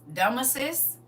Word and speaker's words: Damysus: It's Damasus. Damasus, but it's spelled Damysus.